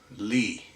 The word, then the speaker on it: Lys: It is a Lys, spelt Lys or Lys, but pronounced Lee.